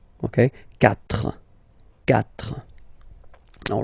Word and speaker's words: quatre: Quatre. Quatre. Okay? So remember that even if you get this u vowel here, basically you don't pronounce it, because that's the rule in French.